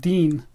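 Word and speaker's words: DEHN: were pronouncing it wrong it's actually pronounced Dean sort of like DEA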